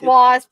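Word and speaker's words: W.A.S.P.: on things sometimes but do you pronounce it wasp or do you are you surprised it's wasp okay yeah because sometimes I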